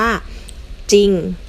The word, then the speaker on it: จริง: นะ คะ หน้า จอ ออก เสียง แค่ พยัญชนะ ตัว หน้า ไม่ ออก เสียง ควบ เหมือน ควบ กล้ำ แท้ นะ คะ ลอง มา